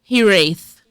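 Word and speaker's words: hiraeth: And it's pronounced hiith.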